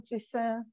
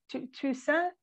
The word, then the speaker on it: Toussaint: Waiting at the Station, with music by Alain Toussaint. I don't know how to pronounce, am I pronouncing that right? No. Toussaint?